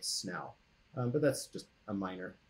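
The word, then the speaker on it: Senu: know that her name would not have been pronounced sin who would have been pronounce something like snow but that's just a minor thing about language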